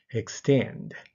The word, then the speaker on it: extend: 後ろが強いです Extend Extend これも後ろが強い proceed proceed これも